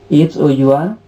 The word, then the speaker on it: hour: H-O-U-R, hour. So a sound is there.